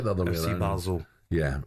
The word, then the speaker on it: Basel: I've never heard I have never heard Basil or Bal ever called Basil. No. Never. How do you pronounce it, Basel? Well, it depends. In Scotland, we call FC Basel.